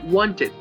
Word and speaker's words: wanted: Esto lo vamos a hacer cuando los verbos terminen con d o con t, como por ejemplo en el verbo need, que es necesitar, lo vamos a pronunciar needed. O con el verbo want, que es querer, sería wanted.